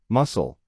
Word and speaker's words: muscle: 12 C. Muscle. The silent. It's just muscle.